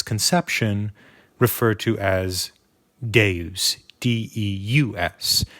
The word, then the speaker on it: Devs: referred to as Gabe's de us the V then being a Roman v which is pronounced like a u Deus of course means